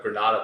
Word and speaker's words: Granada: Like in Granada, they drop syllables. So instead of Granada, they say Granada. Yeah, Granada. Yeah, they drop the D.